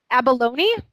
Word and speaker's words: abalone: high saying it right I belong yes about abalone abalone I don't we don't yes